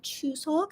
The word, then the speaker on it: Chuseok: drop by and say happy choose hulk so yeah so that's how you say it in korean chuseok but then if you